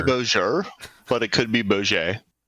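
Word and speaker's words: Bouguer: But I've heard PhD Tony pronounce it correctly, and I do believe it would be pronounced with some sort of a French type accent. So it's like bouger.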